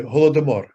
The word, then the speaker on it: Holodomor: Holodomor. How do you say it? Oh, you said it beautifully. Holodomor.